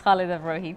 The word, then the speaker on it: Khalida Brohi: Hi, yes, Khalida Bohi.